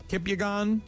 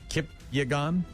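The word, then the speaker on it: Kipyegon: Faith Kipang Kipyagon. I I'm not quite sure how to pronounce her last name. It's Ki Po N. Kipyagon.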